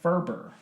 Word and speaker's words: Ferber: So he pronounces his name Ferber. His last name, yes. Ferber.